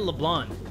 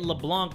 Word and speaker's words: Leblanc: talk more over there why do they keep calling it leblond am I the one mispronouncing it cuz I'm calling it LeBlanc but everybody's calling it leblond like Le blonde hair we went through all